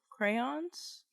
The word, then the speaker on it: crayon: It's crayons. It's one syllable. Like, Crayon.